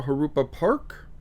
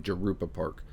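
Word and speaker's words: Jurupa Park: I've been saying Jerupa Park and they're like, "No, no, no, no. It's it's a Spanish J. It's Harupa."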